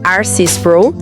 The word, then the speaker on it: R.C. Sproul: O livro de Spro, que se pronuncia Arcy Spro, nos oferece um mapa para navegar nesse paradoxo.